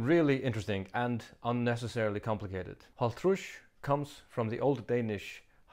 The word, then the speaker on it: hálvtrýss: Haltrush comes from the old Danish halv tredje sinds tyve, meaning half third time 20.